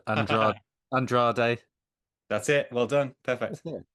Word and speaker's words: Andrade: I'm going to get your name wrong. Andra Andrade.